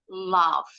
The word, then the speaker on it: laugh: au-nya aja yang sama gh-nya berubah bunyi jadi F bacanya Boleh le boleh love kalau orang Inggris bacanya love love itu tertawa love